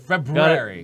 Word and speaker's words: February: You gotta February. Gotta pronounce the hard R's in those.